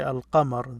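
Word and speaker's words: al-qamar: i mean this is moon letters so when you say al-qamr the moon you pronounce this l so you have al kelp this l is pronounced now they put it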